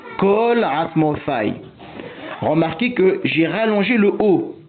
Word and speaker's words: כל: Certains disent cal nidré, d'autres col nidré mais tout le monde dit kalasmofaille.